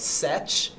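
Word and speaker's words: sech: tange essential for Kosh hyperbolic secant a lot of people call it such will be one over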